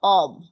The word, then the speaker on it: of: না আচ্ছা, প্রথমটার প্রনাউন্সিয়েশন হচ্ছে অব, অ ব, অব। কি বলেছি বলেন তো? অব অব অব। আর পরেরটার pronunciation হচ্ছে অফ।